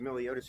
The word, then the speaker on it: Miliotis: Is it Miliotis? Miliotis, you get a gold star for first time saying it right.